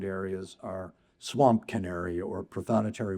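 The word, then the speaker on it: prothonotary: This is another ambassador for wetland areas are swamp canary or prothonetary warbler or in England it would be pronounced protonotary warbler.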